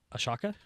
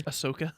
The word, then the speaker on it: Ahsoka: Um, the pattern on the side I did say was just uh Ashaka or Ahsoka, the Star Wars character. Ahsoka.